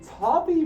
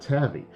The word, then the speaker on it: Tavi: Oh yeah, in case some of you may have realized, yeah, it's actually pronounced Tavi, not Tavi.